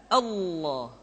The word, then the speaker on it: Allah: adalah pengucapan lafal Allah Hai lafadz Allah dimanapun kapanpun maka lem yang terdapat pada level jalan tersebut mesti ditebalkan Allah Rasulullah kecuali kalau lafadz